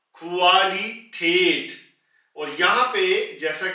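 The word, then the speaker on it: Qualität: से खवल खल यानी के सोर्स कु से क्वालिटेट क्वालिटेट यहां पर आप गौर करें के कु के बाद उ है इसलिए हमने इसको पहले कु बोला और फिर उसके बाद आ ू आ कुवाली टेट और यहां पर जैसा कि आप पहले सुन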